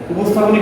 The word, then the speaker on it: উপস্থাপন: তালব্য স, মূর্ধন্য স এবং দন্ত স এর মধ্যে এখানে কিন্তু দন্ত স আছে, তো উচ্চারণের ক্ষেত্রে কিন্তু সেই দন্ত স থাকবে। কিভাবে? উ, ওস, থা, কোন। উপস্থাপন।